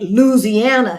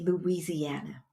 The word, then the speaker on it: Louisiana: it's so you said Louisiana now my Grandmama my Grandmama and them said it was it was like two syllables Louisana right L Louisiana there was no louisy no no no no